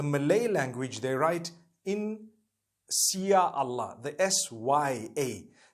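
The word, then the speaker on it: Insya Allah: If you look at, the Malay language, they write in Sia Allah, the S-Y-A. They pronounce the S-Y the way we pronounce S-H.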